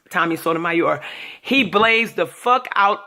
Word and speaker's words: Sotomayor: It's spelled like mayor at the end, like if you got a mayor, but it's mayor.